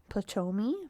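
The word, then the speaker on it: Ptolemy: general it's spelled p-t-o-l-e-m-y potomi potomi f-tomi sloamlay i know what you're spelling i think the p is silent well you guys heard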